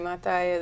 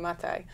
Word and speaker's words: Maathai: And in terms of really impressive environmental work, Wangari Maathai is a total personal hero of mine.